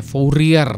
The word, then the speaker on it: Fourier: Fourier transform tulisannya Fourier ya, Fourier tapi bacanya Fourier.